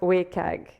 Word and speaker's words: WCAG: have told me before so this is pronounced wag okay I'm not the